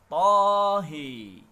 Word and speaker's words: Taha: Dan yang ketiga, lafaz Taha, Imam Abu Amr membacanya dengan mengimalahkan huruf ha-nya menjadi Tahe, Tahe.